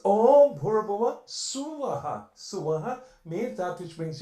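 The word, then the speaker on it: सुवः: It's not Swaha, or it's Suvah, Suvaha, that which brings you happiness.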